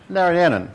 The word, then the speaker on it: Narayanan: Narayanan.